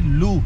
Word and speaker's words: Looe: ये है जी लू, मेन टाउन है, LOOE। तो आपने जैसे प्रोनाउंस करना है कर लें, पर यहाँ पे इसको लू ही कहते हैं।